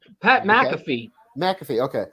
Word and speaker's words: McAfee: his last name pat mcafee mcafee okay i'm saying the cafe i was i was emphasizing the wrong thing pat matthew he was